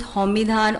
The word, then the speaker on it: Xomidhan: You can pronounce it as Homidhan or maybe Samadhan in Hindi.